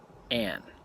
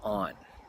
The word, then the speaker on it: On: Now, On did not like her name pronounced Anne. It was On.